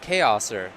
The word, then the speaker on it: Chaoser: It's pronounced Chaoser, like in serve.